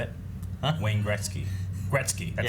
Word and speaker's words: Gretzky: It's true, Gretzky. I said it wrong. How you say it? Huh? Wayne Gretzky. Gretzky, that's how you say Well, it.